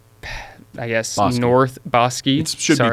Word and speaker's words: Bosque: It's on Bosque, like I guess North Bosi. It should be pronounced Boske, but it's Bos here in W Boski.